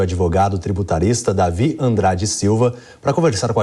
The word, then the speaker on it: Davi: David, só que é Davi, com o D mudo.